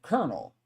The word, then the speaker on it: colonel: Colonel, right? But we pronounce it kernel, right?